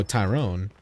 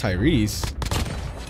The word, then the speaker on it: Tyrese: I was like oh Tyrone and then I you know I learned how to say your name I was like wait what it's pronounced Tyrese I forgot that's even